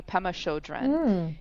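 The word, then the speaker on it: Pema Chödrön: scare you by Pemma Pem I want to pronounce it correctly Pemma Shodren and she's a Buddhist monk and um she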